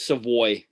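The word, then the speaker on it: Savoie: him i have some voice um it's it's pronounced way i was rare i was corrected that multiple times except what it's it's savoy okay yeah yeah he's not um he's not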